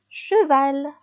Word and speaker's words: cheval: سي اش يتقرا شا. داكوغ تقرا حرف واحد. باغ اكزومبل cheval. cheval.